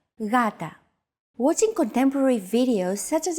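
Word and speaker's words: γάτα: This is usually romanized with an initial G letter, but it is not pronounced gata. The first consonant is softer, gata.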